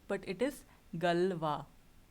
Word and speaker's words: Galois: Now, how do you pronounce this? This is not Galios, but it is Galois, right?